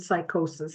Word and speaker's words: psychosis: Neuroses and psychosis. Psychoses. We know psychosis starts with a P, but the P is silent.